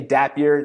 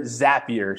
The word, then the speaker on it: Zapier: Ben asked, did I say Dapier? Zapier, sorry. So spelled the same way, just a Z instead of a D.